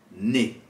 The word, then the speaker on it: nez: Attention, vous l'avez peut-être remarqué, la lettre Z ne se prononce pas quand elle est placée à la fin d'un mot. Exemple dans le mot nez.